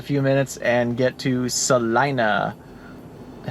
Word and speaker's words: Salina: in just a few minutes and get to Salina I said it right now yeah salinaa anyway